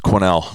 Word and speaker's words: Quesnel: Is it Quesnel? Is that how it's pronounced? Well, the S is silent, and it's Quesnel. Quesnel, gotcha.